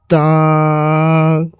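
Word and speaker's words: تاء: এরপরে হচ্ছে তা এই তা অক্ষটি একটু চাপ দিয়ে বের হবে মুখটিকে চাপ দিয়ে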